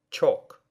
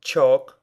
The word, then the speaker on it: chalk: Обратите внимание на слова chalk и talk. В этих словах буква L не читается.